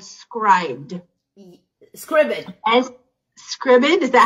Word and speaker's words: Scribd: Scribd, is that how you say it? S-C-R-I-B-D.